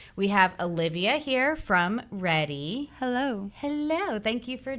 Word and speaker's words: Redi: We're going to be talking about Redi packs. Did I say it right? Readiness. Packs? Readiness. Readiness. Getting ready.